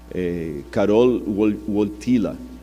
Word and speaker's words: Karol Wojtyła: E o Karol Wojtyła, esses dias eu pedi a alguém que fala polonês para me corrigir a pronúncia, Karol Wojtyła, que era o nome do Papa, ele sofreu muito na mão do comunismo na época da Polônia.